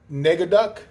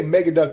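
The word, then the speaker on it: Negaduck: nemesis uh what's that nega duck i want to say mega duck but it's spelled with an end so i'm going to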